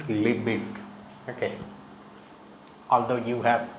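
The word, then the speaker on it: Lebesgue: integration named after the mathematician Henry liik it's pronounced liit okay although you have S and U here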